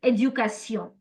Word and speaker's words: éducation: In French, it's éducation. So all your tion endings in French are pronounced as sion.